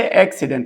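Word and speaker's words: accident: ورك حادث او حادثه اكسدنت خلي بالك ان عندي هنا دبل سي السي الاولانيه اتنطق كو سي التانيه اتنطق س علشان يجي بعدها الاي واحده واحده مع بعض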